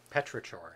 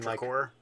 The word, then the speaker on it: petrichor: smell when it's been Petrichor. Like... Petrichor. Petrichor? Petrichor. Maybe. Yeah. Can be a hard K. With I mean, CH. It does need an explanation why there's an H and it's a hard C.